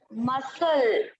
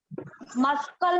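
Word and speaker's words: muscle: हाँ, मसल, मस्कल नहीं बोलेंगे इसको, क्या बोलेंगे, मसल बोलेंगे, क्योंकि यहाँ पर सी जो है वो साइलेंट है।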